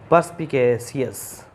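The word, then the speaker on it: perspicacious: जब आर के बाद में अगर कोई वॉवल होगा तो आर को बोला जाएगा, अगर वॉवल नहीं होगा तो ये आर साइलेंट टाइप का रहता है, तो पर्सपिकेशियस हो जाएगा।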